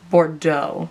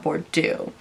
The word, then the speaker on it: Bordeaux: is like almost black I think it's pronounced Bordeaux not bordo anyways okay you guys